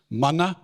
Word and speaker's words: Mana: Mighty word or there's another one we use Mana in the kojo community m-a-n-a take the m